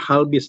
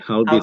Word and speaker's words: HallBizz: Bacanya HBIS apa? Halbis nih. Halbis.